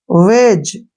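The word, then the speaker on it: wedge: वेज, ऐसे पढ़ना है, ब्रिज, एज, एज, वेज। यहाँ पे एक चीज कॉमन है, जी से पहले डी आता है तो डी को हमने नहीं पढ़ना है, डी साइलेंट रखना है।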